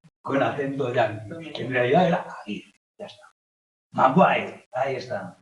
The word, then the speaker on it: Aguirre: que tiene cuando pronuncias el español con con acento en realidad era agir ya está magu ahí está magire fijaos como